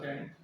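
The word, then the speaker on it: scent: ठीक है, एक रहता है सेंट, जो बात है सेंट, इसमें सी साइलेंट रहता है।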